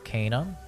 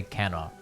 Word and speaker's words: Kena: went ahead and finished kana rigid spirits that is the proper pronunciation but i'll probably say kenna a million times because i'm [ __